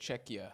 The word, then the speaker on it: Czechia: That's how you say it, Czechia. I've been saying Czechia, and people keep telling Czechia.